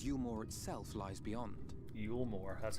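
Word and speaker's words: Eulmore: open arms and you more itself lies Beyond you more that's how you say it this meanwhile is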